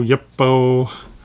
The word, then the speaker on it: YUPO: of you have asked what I ever demonstrate you bow you bow we pronounce it and yes I've intended to do